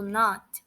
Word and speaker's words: not: Eu vou repetir mais uma vez para que vocês possam perceber que a pronúncia do not, ela é bem suave.